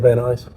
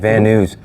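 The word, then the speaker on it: Van Nuys: built right here in Van eyes okay that's how you say it van eyes I said van news um let's see oh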